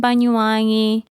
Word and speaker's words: Banyuwangi: So the oldest child in that family lived with the father's family in Banyuwangi. Can you pronounce that word?